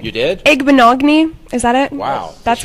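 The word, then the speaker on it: Igbinoghene: Igbenogany.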